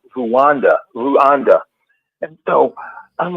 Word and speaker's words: Rwanda: the time um and it was pronounced ruanda not Rwanda ruanda so that